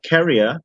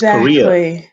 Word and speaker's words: Korea: but it's korean yeah she's pronouncing it like to carry something yeah carry it yeah that's it it's korea yeah so like okay yeah sounds like yeah yeah if you say carrier it's a person who it's like a